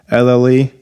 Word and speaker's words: Nouvelle: Nouvelle.